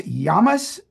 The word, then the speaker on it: llamas: is is it pronounced yamas in Spanish it is yeah the Double L becomes a y sound okay so that's the